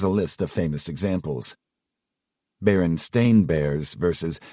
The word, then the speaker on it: Berenstain: Berenstain Bears versus Berenstein Bears. Everyone remembers it being the Berenstein Bears, but in reality, it's Stain.